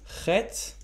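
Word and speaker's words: חית: Next letter is chet. Chet. Sometimes it's a bit hard for non-native speakers to pronounce this letter. Chet. Chet. I'm kind of scratching my throat a little bit.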